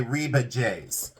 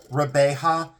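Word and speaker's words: Rebajes: outside and people say it's okay people say rebe JS it's not rebe JS it's Rea so it's pronounced reaba it's spelled reeba JS re e b a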